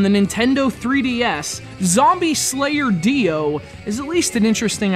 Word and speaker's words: Diox: One head says rhythm game, the middle head says hack and slash, and the third says, hey, the X is silent, and we have guitars and zombies.